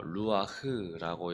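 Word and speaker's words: רוּחַ: 성령은에 이와 같다라고 예수님이 말씀해 주셨는데 성령을 성령이라는 단어는 헬라어로는 푸뉴마 그리고 히브리어로는 어 루아흐라고 이렇게 발음합니다.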